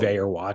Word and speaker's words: Vaer: We couldn't do it without you, Vayer Watches. Vayer is spelled Vaer.